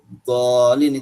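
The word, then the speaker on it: الضالين: Misalnya dalam surat Al-Fatihah nanti ada walau dhalin, itu pakainya apa? Do. Pakai do, jangan pakai dal, ya.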